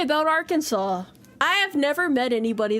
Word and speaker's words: Arkansas: about this state uh people who are non-native English speakers probably hate the name of this state because it's not pronounced the way it looks um there it is